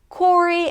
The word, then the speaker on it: Cory: Start with a 'k' sound, then the 'or' as in four - 'kor'. 'kori'. "Cory and Rory are eating ice cream".